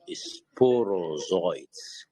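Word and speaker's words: sporozoites: which the mosquito injects in human is called sporo zoids sporo and it's spelled s p o r o z o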